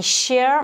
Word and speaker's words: share: Je vais dire I share my chair with my friend. Donc share, c'est les lettres SH, donc ça fait le son che.